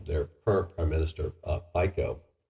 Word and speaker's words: Fico: current prime minister uh Pico Pico or Pico I think it's FICO at least that's the English pronunciation of it so Slovakia